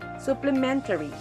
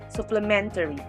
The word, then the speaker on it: supplementary: second syllable inevitable supplementary the first syllable is su second syllable is play third syllable is min fourth syllable is ta and last syllable is we the stress is on the third syllable men supplementary last is enthusiastic